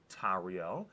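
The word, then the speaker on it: Tauriel: way to say smaug the right way to say tario which has the same vowel sounds put together a and u to create that ow yeah that was a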